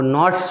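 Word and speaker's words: knots: और मैंने नॉट्स क्या होता है, वो नॉट्स वर्ड पढ़ा जाता है, के साइलेंट नॉट्स।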